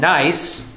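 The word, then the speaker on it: gneiss: the granite schist and nice which is spelled g-n-e-i-s-s those rocks which can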